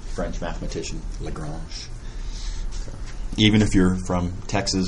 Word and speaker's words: Lagrange: a couple of them a lot of people mispronounce this as Lagrange French mathematician Lagrange even if you're from Texas or a ZZ